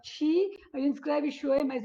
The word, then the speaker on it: qi: A gente escreve Qi, mas na verdade fala Chi.